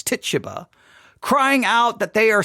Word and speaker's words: Tituba: and the slave Tituba some say tishaba but I think it's Tituba crying out that they